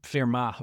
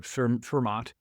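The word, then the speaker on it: Fermat: So now we're in his 20s, but at age 31, Pascal corresponded with Pier Demat is a Ferma or Fermont depending on how you want to pronounce that, but he's known as very very famous mathematicians and he corresponded with him on probability theory.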